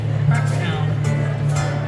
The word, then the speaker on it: Pakistan: I've heard the different pronunciations of Pakistan, like Pakistan and Pakistan, but it is Pakistan.